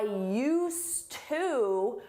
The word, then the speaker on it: used to: You don't hear it in pronunciation but is there in spelling. I used to work at the bank but now I work at the mall.